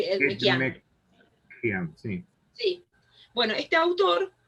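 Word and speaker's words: Ekmekdjian: Sí, es medio difícil, si quieres se lo deletreo, es Edmejian, es E-K-M-E-K-D-J-I-A-N. No pronuncio yo las K, pues son difíciles ahí, Edmejian.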